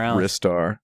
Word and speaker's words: Ristar: I just want to say it's definitively pronounced Ristar, by the way. I only know that because that's what it says on the title screen of the Japanese version.